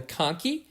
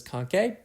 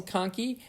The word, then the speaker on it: conchae: key rather I'm sorry American pronunciation is Tong key even though it looks like it may be pronounced as concave and remember that they